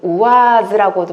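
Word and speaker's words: УАЗ: 자, 이게 이제 우아즈라고도 발음하고 우아직이라고 발음하는데 똑같은 말인데 그냥 이제 친근하게 볼 때 우아직이라고 하는데 그러니까 군용차 같이 생겼죠.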